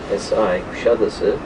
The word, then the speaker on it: Kuşadası: You can see the road signs reading Kuşadası, K-U-S-A-D-A-S-I, Kuşadası. The way we pronounce it is the bird island where all